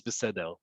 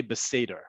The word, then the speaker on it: beseder: very first one is besedel now remember however you want to pronounce it it's fine besede is the typical way you would hear it you can also say beseder we've talked about beseder